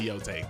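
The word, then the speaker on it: Yōtei: Is it Yotay or Yotai? Sorry, I haven't played the game enough. I don't remember how to pronounce it yet. Ghost of Yoteay just Ghost of Yoai. Shut up. Ghost of Yoai just came out. It's definitely Yotay.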